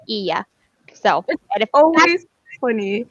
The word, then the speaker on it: Hylla: It's Ia. That's how you pronounce So it. the double L's, they make a yeah sound in Spanish. My name is Spanish, and H is silent, so it's Ia.